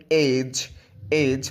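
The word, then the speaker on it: edge: For example, এটা এডেজ না হয়ে হবে এজ মানে প্রান্ত।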